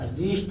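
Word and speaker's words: wrist: जैसे देखिए डब्लू आर ओ एन जी का हो जाएगा रॉन्ग हो जाएगा, से राइट हो जाएगा, राइट हो जाएगा, रिस्ट हो जाएगा। एक्स वाई जेड साइलेंट नहीं होता है, एक्स वाई जेड साइलेंट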